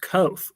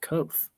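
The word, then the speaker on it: Kvothe: It's actually pronounced Koth, oddly enough.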